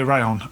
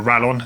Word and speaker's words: Rallon: in news there's a new all bay rayon on the scene or a rail on as you might see it as it's spelt so it's an enduro